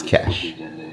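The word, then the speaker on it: cache: people saying cash as opposed to cash a c a c h e because that e is on it every Jamaican or Caribbean people they're going to put the E on it when they pronounce itot um based on what YouTube college is saying and it says it's cash supp we'll see if I'm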